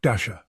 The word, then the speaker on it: Dashjr: Knots is maintained by Luke Dasher. Yes, pronounced like Santa's reindeer.